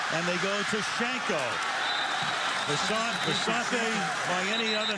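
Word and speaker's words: Visanthe: to be known as Visant. I said, how do you want your name pronounced? You say Visante on your introduction. Which way? I've heard 50. He said, I'm now Visant.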